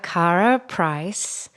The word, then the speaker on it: Karah Preiss: Well, I feel like this is a good place to start because we have Karah Preiss.